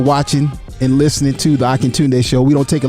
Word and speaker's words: Akintunde: It's the Akintunde Show.